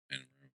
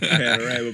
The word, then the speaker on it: Panamera: Like Panamera Porsche. Panorama Porsche.